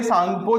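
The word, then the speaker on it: Tsangpo: suture zone यहां पे सांगपो जो होती है टी से उसकी स्पेलिंग स्टार्ट होती है क्योंकि टी यहां पे साइलेंट है ठीक है उसके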